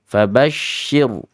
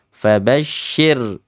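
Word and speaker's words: فبشر: tafasi fabasir rnya tarq karena sebabnya kasir Sir jangan diangkat Bibir bawahnya fabasyir sirir jangan ya fabasyir Hum Bi mim sukun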